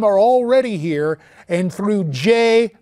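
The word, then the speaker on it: Jeh: already here, and through J, rhymes with meh, Johnson at Homeland Security, they're moving forward to make us less secure.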